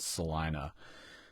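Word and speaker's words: Celina: record is called Salina it looks like it's spelled Salina it's CEO I and a but it's called Salina you guys will dig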